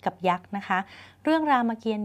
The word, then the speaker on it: รามเกียรติ์: ก็ เฮีย รอ เปลี่ยน ตัว นี้ ไม่ ออก เสียง อ่าน ว่า รามเกียรติ์ ไม่ อ่าน ว่า รามเกียรติ์